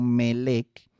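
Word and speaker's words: מלך: Pero vea la similitud con la palabra melek, que significa rey, que literalmente se pronuncia así en hebreo moderno, melek, significando hacia el español y hacia nuestros idiomas, ¿verdad?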